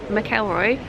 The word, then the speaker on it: McElroy: McElroy getting it right been told the correct pronunciation McElroy God I hope I got that right mum's